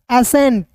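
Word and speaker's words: ascent: तो देखिएगा एस सी ए एस सी ई एन टी। ठीक है? तो यहां पे सी को यहां पे दोस्तों सी को साइलेंट कीजिएगा। तो ए एस को पढ़ेंगे। एस ई एन टी को पढ़ेंगे। एंट एसेंट।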